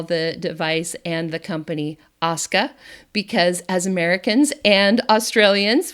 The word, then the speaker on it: Oska: it's Osa or Asuka just think Oscar and pretend like you're Australian it's Asuka today I am interviewing